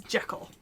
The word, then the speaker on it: Jekyll: source that says that the original author said it was supposed to rhyme with treacle as intrical tart hmm so it would be G Cole then but the American pronunciation is Jekyll look if we're gonna